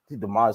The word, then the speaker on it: DeMar: DeMar's had multiple 40-point games. Get it right. Lows. And next time, say his name right too. It's DeMar just chosen one.